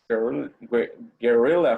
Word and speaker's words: guerrilla: say guerrillas gorilla fighters guerrilla fighters the gorilla gorilla like gorilla but guerrilla we will advise to